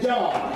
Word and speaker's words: John: Listen, the Mexicans have a hard time with J. I used to work with a man named Jose. He had the hardest time saying John. He'd say Juan, Juan, Juan. I'd say his name ain't Juan, honey. His name's John. But he had a hard time with J's. He had a hard time pronouncing it with his mouth.